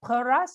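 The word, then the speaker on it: Perast: the name of i'm not sure if i pronounce it right peras is that right that's that's very good that's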